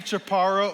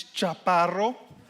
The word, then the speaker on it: Chaparro: portion of the show my name is Jepara or in Spanish it's chopped bottle which in Spanish actually